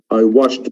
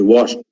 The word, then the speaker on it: washed: And I washed my car. I washed, not wash it.